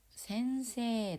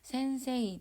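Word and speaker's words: 先生: 초등학교의 센세 데스 센세가 선생님이라는 의미예요. 저번에 학생도 각세였잖아요. 선생님도 마찬가지로 센세이 데스 이 이자를 두드러지게 발음하지 않아도 되고 세자를 좀 길게 발음하시면 돼요.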